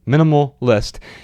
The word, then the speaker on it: MNMLL.ist: Now, it is spelled MNMLL.ist. So it's like minimal without the vowels, only the consonants, with an L at the end, .ist. Minimal List.